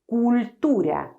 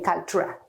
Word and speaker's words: cultura: But in Spanish, you cannot say cultura, cultura. No, no, no, no, no. This is not correct. You have to say cultura. You can do it quickly, cultura. But every part, every syllable has exactly the same duration.